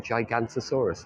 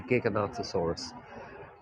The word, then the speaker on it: Giganotosaurus: called a giganotosaurus and I used to pronounce it wrong for a long time I was saying gigantosaurus I just thought that's what it was it's apparently a gig anatosaurus there's a thurlo street